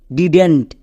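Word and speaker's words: didn't: এবার একে যখন আমরা একসঙ্গে উচ্চারণ করতে যাব তখন এর উচ্চারণটা হয়ে যাবে ডিডেন্ট। ডিডেন্ট। নট ডিড নট। একে আমরা একসঙ্গে উচ্চারণ করব ডিডেন্ট।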